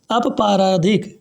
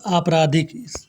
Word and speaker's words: आपराधिक: है उन उप पार अपराधिक अपराधिक मतलब आपराधिक इसको आप सही से पढ़िए सुनिए ये गलत थोड़ा